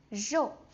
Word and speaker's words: 肉: And lastly, 肉, 肉.